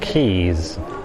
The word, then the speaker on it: Caius: That's pronounced Keys, like a bunch of keys.